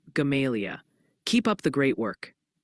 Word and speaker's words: Gamaliel: Also, heads up, folks are gently reminding us that Gamaliel, near Mountain Home, is pronounced more like Gamalia.